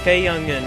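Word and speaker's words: Cayuga: Hello and welcome to qualifying for the race number 8 here at Cayga, I think that's how you say it. Cayga, that's how you say the racetrack's name. And we are here, this little track here is in, I forget the state, Pennsylvania.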